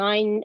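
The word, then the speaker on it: ع: And ain, remember, is not like alif and hamza. Alif and hamza sound differently, and ain sounds differently.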